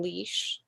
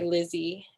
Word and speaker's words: Lise: So I spelled my name the Portuguese way, Lise, so people would say Lizzie and pronounce it correctly that way.